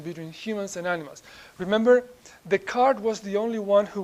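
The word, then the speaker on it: Descartes: the soul okay the soul yeah we we pronounce the name usually the card not Des card alth there are both pronunciations okay I'm telling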